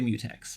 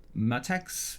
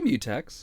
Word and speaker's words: mutex: how do you say mutex do you say matex MCH I say mutex you say mutex me as in like the SI prefix and then Tex as in Texas CU I noticed you